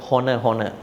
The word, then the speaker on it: honor: He was always pronouncing the word honor.